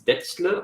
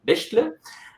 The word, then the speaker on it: Bechtle: It's pretty hard to pronounce for people who are not from Germany, so it's Bechtle or Bechtle.